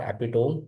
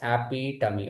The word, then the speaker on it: epitome: I told you that the pronunciation of it is not epitome. Many people do mispronounce it, and I don't want you to mispronounce this. It is epitome.